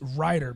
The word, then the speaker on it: Reiter: what's your last name i go writer and they go what and i go write her like an author so i want to throw them er that's how it's pronounced okay but it's not what it is r-e-i-t-e-r yeah